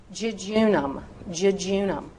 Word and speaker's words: jejunum: So if use the J sound if the J is at the beginning of the word. So obviously you would say jam. Jejunum.